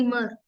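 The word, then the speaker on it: immer: की बात है कि आई को प्रस करते ई तोसे अब इस वर्ड को बोलूंगी ममर न आमर म मर ब प्रोना करते जर्मन में आई को ई तो ई म मर ममर मीन लवेज नेक्स्ट जे को प्रोनाउंस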